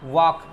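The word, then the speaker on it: walk: वह फॉक्स इसे क्या पद गया फोक टॉक वॉक ठीक है तो एल आपका क्या हो जाएगा यहां पे साइलेंट हो जाएगा तो एल को आप प्रनंसीएशन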